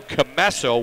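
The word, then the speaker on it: Commesso: I keep mispronouncing it, but it's Drew Camesso with the save and the cover.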